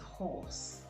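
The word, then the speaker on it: hoarse: Horse and horse. Pronounced the same way. Horse is a four-legged animal used for riding or work, while horse is used to describe a rough, husky voice due to sore throat.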